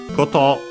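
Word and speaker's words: こと: Cotto means is accent on the last syllable means thing as in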